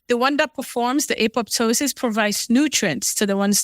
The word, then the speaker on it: apoptosis: to this you talked about um can you pronounce it again is it Apple ptosis apoptosis apoptosis apoptosis or a program cell death is when